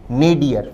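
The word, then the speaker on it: nadir: हमारा आंसर होगा अंतिम ऑप्शन डी नेडियर। विद्यार्थी इस शब्द के उच्चारण पर भी ध्यान दें। शब्द का प्रोनंसिएशन है नेडिय।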